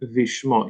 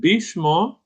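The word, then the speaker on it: בשמו: will be uh and vishmo you said bishmo but we don't have the gash in the middle of the bed so it's a v the it makes a v sound so It's bishmo.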